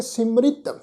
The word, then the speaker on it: सिमरित: इस शब्द के पाठ विच असीं पाठ उच्चारण करांगे सिमरित, क्योंकि इत्थे 31 सिमरतियां दी जिहड़ी है वो गल गुरु अमरदास महाराज जी कर रहे हैं।